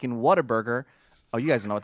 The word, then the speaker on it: Whataburger: water burger in Texas it's really pronounced what a burger yes but we all